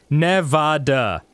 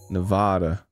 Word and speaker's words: Nevada: No, it's Nevada. What? Yeah. Yeah. Pronounce it so that the middle part rhymes with ad.